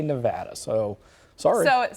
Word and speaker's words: Nevada: Oregon, it was like, no, it's Nevada. You got to say Nevada. So sorry. So it sounds like Nevada is the right way to say it, if I heard you correctly.